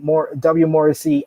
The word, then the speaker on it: Morrissey: Morrissey and Eddie Edwards.